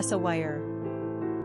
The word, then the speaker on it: Sawyer: Pronunciation, Sawyer.